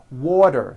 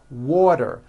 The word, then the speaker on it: water: term is pronounced as water the T turns into a D and the whole word is voiced water I want water vector